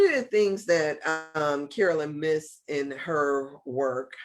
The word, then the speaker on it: Myss: missed in her work, I don't know how to say if I should say miss or mace, right? I say So miss. Does it pronounce yes, Mace? I It hear could some people be saying miss, Carolyn but why Mace. is spelled MYSS, and so that Y I always pronounce it like Am yeah, I I? don't necessarily pronounce it like a Mace. It should be Miss, I think.